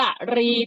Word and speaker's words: กรี: เห็น ไหม ลูก เออ มัน เขียน ว่า กอ ไก่ รอ เรือ สระ อี ตา มหา ได้ 2 แบบ เพื่อ อ่าน ว่า กะหรี่ ที่ แปล ว่า กรี ที่ เป็น กระดูก และ แบบ อยู่ บน หัว กุ้ง นะ คะ หรือ สถาน ว่า กะรี ที่ แปล ว่า ช้าง ก็ ได้ ขั้น ต่อ มา นะ